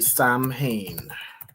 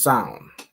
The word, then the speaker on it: Samhain: So, it's not exactly Sam Hayne. How would you pronounce this? Let me look up pronunciation. So, I think it's pronounced. All right. Son or Hold on. It's pronounced as sound.